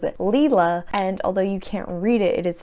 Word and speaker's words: Leela: So there's Leela, not 𝗖lie, even though she herself doesn't really correct people when they say 𝗖lie rather than Leela.